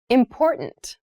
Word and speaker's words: important: The pronunciation of this word, that first T, is actually reduced. It sounds more like a D in fast speech.